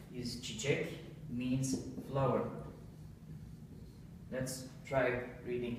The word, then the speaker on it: çiçek: Çiçek. Çiçek. So this letter is like C, but in Turkish, C is pronounced J, and this letter is pronounced Ç, same like in chicken or kitchen.